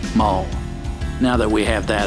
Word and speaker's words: mul: with the demi-human one I have always felt it was way too on the nose to say it that way I say it the way it's spelled mole now that we have